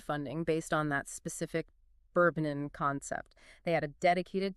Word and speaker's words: Burbn: Bourbon, like the drink. Yeah, but spelled without the vowels.